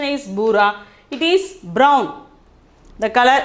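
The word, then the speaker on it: भूरा: The pronunciation is bura.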